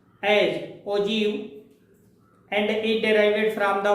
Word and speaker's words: ogive: This term ogive is pronounced as ogive and it derived from the word ogive.